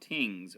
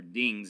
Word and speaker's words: dings: ancestors the people used ornate bronze vessels called tings or dings is how you pronounce we would pronounce it to cook meat